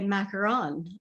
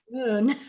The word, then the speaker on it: macaron: And I just learned the correct way to say macaron. I always say macaroon.